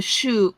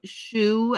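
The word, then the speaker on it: choux: pastry it's the same it's a shoe shoe I think is how you pronounce it c h o u x you can use a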